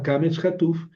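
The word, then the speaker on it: קָמָץ קָטָן: Se llama cametuf, pero se pronuncia o y es breve.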